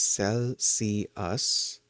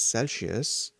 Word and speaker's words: Celsius: The most standard way is Celsius, okay, Celsius. Interestingly, it is one of those words that frequently gets a hidden sound added to it. You will often hear people pronounce it as Celsius, adding a sh sound, but linguists and scientists generally consider the S sound to be the correct version.